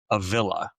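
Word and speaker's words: Avilla: Um, I would pronounce it Avala. Um, but everybody around here pronounces it a villa.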